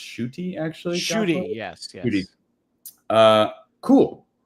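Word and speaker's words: Ncuti: I think his name is pronounced Shuti.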